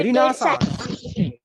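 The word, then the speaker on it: Renaissance: Okay, रिनासास।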